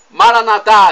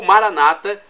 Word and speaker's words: Maranata: para o nosso português, Maranatá, vinde Senhor Jesus, ou Maranata, pronúncia evangélica ou protestante, Maranata, com a tônica na penúltima sílaba, Maranatá, pronúncia católica.